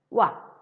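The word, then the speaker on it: は: Okay, like particle wa, we learn in lesson 1 that a ha, hiragana ha, when used in grammar as a particle, pronunciation changed to wa.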